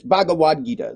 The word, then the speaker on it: Bhagavad Gita: called the bagad Gita or Bhagavad Gita it's Bhagavad Gita that's that's the way that my friend told me it's pronounced I thought it was Bhagavad Gita um he said bhad Gita okay b b